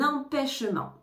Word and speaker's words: empêchement: j'ai un empêchement hein on ne prononce pas le T à la fin j'ai un empêchement j'ai un empêchement je